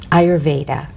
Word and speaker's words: Ayurveda: were um that you're such a specialist and ayurveda did i say it right you did beautifully